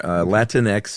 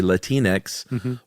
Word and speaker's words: Latinx: word, which is, and there's a few ways you can pronounce it depending on who you are. Latinx is what I've always said. Mm-hmm. You can also say Latinx or Latinx, it seems like.